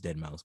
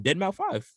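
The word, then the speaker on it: Deadmau5: Like when I read it, I'm like, oh, Dead Mouth Five. Oh yeah. Until I heard someone obviously pronounce it correctly, like in the videos, and said Dead Mouse.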